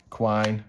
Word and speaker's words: quine: Rob's swine, quine, rhymes with swine.